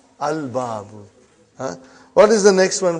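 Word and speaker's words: الباب: Is it moon letter or sun letter? Moon letter. You did pronounce lam. Al-babu.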